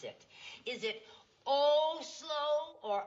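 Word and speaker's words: Oslo: city there and I never know how to pronounce it is it oh slow or a slow o slow thank you you're welome this is kic real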